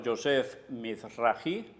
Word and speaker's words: Yosef Mizrahi: El popular rabino Yosef Mizrahi, se pronuncia así, hace una serie de conexiones entre